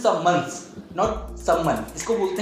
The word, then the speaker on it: summons: तो सबसे पहला हम वर्ड लेते हैं समवन। वैसे तो कहने में बहुत इजी सा वर्ड है समवन। समवन की स्पेलिंग पे जाते हैं तो SUMMONS, इसको बोलते हैं समन्स, नॉट समवन, इसको बोलते हैं समन्स।